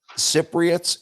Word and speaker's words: Cypriots: And Cypriots is the proper pronunciation? Yes, yes, for someone from Cyprus.